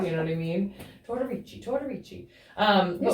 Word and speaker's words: Tortorici: We are sitting down with Felicia Tortorici. I have to say it like 5 times together. You know what I mean? Tortorici.